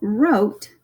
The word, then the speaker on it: wrote: Now, wrote, this is the word wrote.